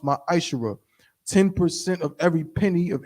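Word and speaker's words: מעשר: You can find this in Numbers 18 and 21, and Malachi chapter 3, verses 8 through 10, means 10th in Hebrew and is pronounced ma'ashara.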